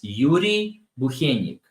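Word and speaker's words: Bukhenik: uh the the Lal pronunciation is Yuri buenik probably Yuri buenik the reason it's so hard to pronounce is Americans don't have the the soft syllable that we do in Russian in Ukrainian so that's why it's easier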